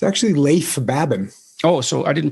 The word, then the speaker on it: Leif Babin: the dichotomy of leadership with fellow retired seal leif baben did i pronounce that right it's actually leif babin oh so i didn't pronounce it right at all leif babin he hosts a weekly podcast with brazilian jiu